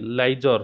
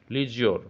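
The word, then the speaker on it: leisure: ইউ আর এইটা ঠিক আপনার মিস্টেক এল আই লাইজর হইবো লাইজ জর হয়ে যাও উচি এল আইরে লাই প্রোনাউন্স উচিত লাই হবনি লি লি ই আই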